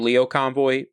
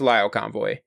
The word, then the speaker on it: Lio Convoy: been here by now in the last series I pronounced his name Leo Convoy it's Lio Convoy anyways when it comes